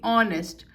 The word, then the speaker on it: honest: Honest, we are saying honest. So again H is silent, we are using article an honest man.